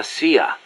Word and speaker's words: CIA: here they say la Sia instead of CIA huh nothing strange about it that's how it's pronounced when you read it in Spanish it has the feminine